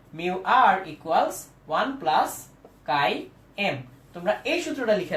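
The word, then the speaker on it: χ: নট এইভাবে লেখা যায় এই সিম্বলটা এই যে এক্স এর মত একটা সিম্বল এই সিম্বলটার উচ্চারণ হচ্ছে কাই তাহলে নিচে এম দিলাম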